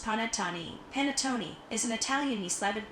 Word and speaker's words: panettone: Pronounced panettone.